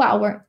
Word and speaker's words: hour: Isso aí, Rejane, porque o H tá com som de vogal. Isso aí. O H é mudo.